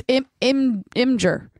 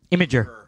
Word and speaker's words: Imgur: It's Imgur. Imager. IMGUR. Imager. But there's not. You're adding a syllable in there. That's not there.